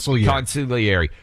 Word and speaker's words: consigliere: of staff, whoever her consigliere is. You don't pronounce the G. Consigliere.